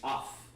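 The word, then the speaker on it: aph: It's off. All one pronunciation there. Off. Or it's not a pa, it's off.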